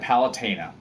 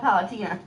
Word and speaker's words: Palutena: one uh you have the goddess of light palutena palutena tina tina tina you want to run that by me again because guess what that's how they pronounce it in the game i heard it called palatina yes people that's people pronouncing it wrong i